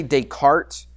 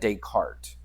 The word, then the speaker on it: Descartes: He wasn't just a mathematician, and we say Descartes. That S in French is, I don't know any French. I never took a French class in my life, but you pronounce that Descartes.